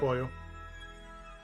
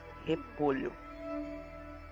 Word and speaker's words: repolho: Repollo. So, the correct way to pronounce it is repolho.